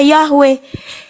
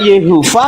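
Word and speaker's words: Yahweh: Y heav itu dibaca YHWH huruf Yhw dibaca Yahwe. Huruf yod, sin wain dibaca Yesua. Jadi kamu jangan eja gitu loh. Panggil dengan benar. Bis itu bisa dibaca Yeha, bisa dibaca Yahwe, bisa dibaca Yehua.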